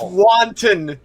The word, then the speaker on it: wonton: It's pronounced wanton, Steve. Wanton.